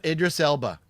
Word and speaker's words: Idris Elba: It also has James Remar and uh I always say his name wrong is El I always say Idris Idris Elba. Thank you. I cannot pronounce his name to save my life.